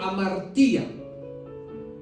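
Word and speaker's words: hamartia: idioma entonces pecado viene del griego amaría sí h a m a r t acento en la i y a del griego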